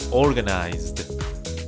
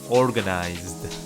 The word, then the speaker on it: organized: the past is organized you should say this way organized like a D this workshop was organized